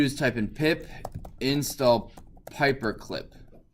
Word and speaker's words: Pyperclip: And what you're going to do is type in pip install Pyperclip. Like paper, but with an A.